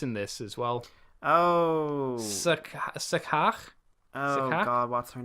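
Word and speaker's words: Scáthach: It's spelt Scathach. But this is Irish words. Skahak.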